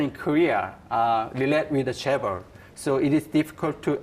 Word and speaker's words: Chaebol: the risk involved in, let's give the proper pronunciation, Chaebol.